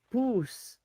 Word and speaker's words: pus: Well, in in Spanish, pus is pronounced poos.